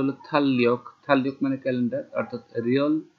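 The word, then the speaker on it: 달력: Korean ভাষার নিয়ম অনুযায়ী রিয়লের পর রিয়ল আসলে দুইটা ল ল উচ্চারণ হবে, উচ্চারণ হবে থাল্যক, থাল্যক মানে হচ্ছে ক্যালেন্ডার।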